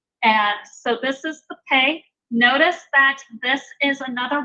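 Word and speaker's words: פ: With the Dagesh Lene, with that dot in the middle, it's going to be pronounced P. But without the Dagesh Lene, it's going to be a soft P, F. Sound very much like our F sound.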